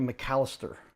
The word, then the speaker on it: McCallister: McCallister.